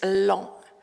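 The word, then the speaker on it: Laon: So um the influence of the imperial school which was in L you you pronounce this long l a n long with a nose.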